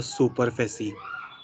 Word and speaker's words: superficie: Okay, la serie, and here it will be la superficie, not super, super. A sound is there for this one.